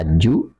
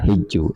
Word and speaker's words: hajj: Hajj diucapkan dengan fathah pada huruf pertama, atau kasrah; bisa berupa hajju atau hijju.